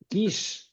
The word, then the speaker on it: Kiss: yes, Virag Virag, Kiss? yes, yes, Yeah, Kish, so Kish. Okay, Kish, sorry.